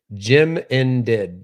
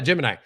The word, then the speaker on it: Gemini: Jim and did.